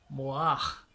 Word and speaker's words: mohar: eux ils appellent cela mohar. Mohar, donc prendre une femme, payer un prix pour avoir une femme. Donc en hébreu, le mot dot signifie mohar. Mohar. Mohar ou mohar. Ça dépend des prononciations.